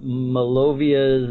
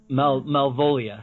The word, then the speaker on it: Malvolia: So Blood of the Tribbids is getting a re-release under a series that is called Malovia's Movie Matinee, I believe. And Malvolia, sorry, I said the name wrong.